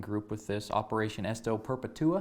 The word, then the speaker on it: Perpetua: You're part of the governor's uh working group with this Operation Esto Perpetua. Is that how you say it? Perpetua. Perpetua. Okay, I'm putting the wrong emphasis there.